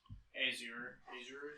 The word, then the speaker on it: Azure: Yeah, It's Azure.